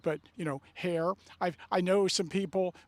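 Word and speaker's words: Herr: ridge, but you know, hair. I I know some people with that last name. That's a Lancaster County name, and some families pronounce it her, and I like Sarah's pronunciation of it, hair.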